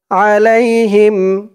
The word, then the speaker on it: عليهم: আলিফ টান আও ইয়াতুবা আলাইহিম আলাই লাম দিয়ে ইয়া ধরবে লাই আলাই আলাই আইনের উচ্চারণটা গলার ভেতর থেকে শক্ত করে আনতে হবে আলাই হিম হা দিয়ে